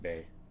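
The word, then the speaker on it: Bea: I think I've seen people pronounce her name Bay. I think her name is pronounced Bay, which is kind of funny.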